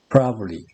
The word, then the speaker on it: probably: probably는 3음절이죠. 그런데 발을 빼버리고 probably 이음절로 발음합니다.